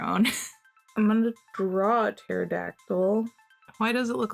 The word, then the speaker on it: pterodactyl: Okay, we know that it starts with a P because the P is silent. PT. Oh, where are my post-it notes? Hold on, let me test with a post-it note. Pterodactyl.